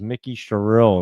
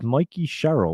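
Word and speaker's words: Mikie Sherrill: And I didn't even know her name was Mikey Sherrill. That's what her name is. I thought it was Mickey Sherrill. And my wife was like, it's Mikey Sherrill. What the heck are you even talking about?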